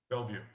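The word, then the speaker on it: Belleview: wants to purchase here in ocala or bellavu bella view i don't know how that's pronounced i'm sorry bellevue thank you and there is a home that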